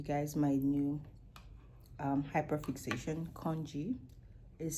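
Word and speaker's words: congee: To show you guys my new um hyperfixation, kongji is spelled C O N G E and it is it is a Chinese rice porridge.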